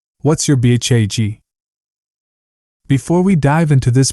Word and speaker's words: BHAG: The acronym, BHAG, commonly pronounced BHAG, is universal to both entrepreneurs and self-help authors.